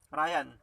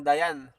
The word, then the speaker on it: Ryan: Ryan pa rin yung bigkas dyan. Kumbaga, isa-set lang natin yung isip natin na meron siyang consonant. Okay. Pero depende kung halimbawang hindi alam nung babasa na Ryan yan. Pwedeng Dayan.